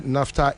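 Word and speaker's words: naphtha: Or say NAFTA is spelled N A P H T H A.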